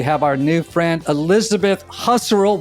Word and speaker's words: Husserl: Today we have our new friend Elizabeth Husterel, which kind of rhymes with casserole as I was told.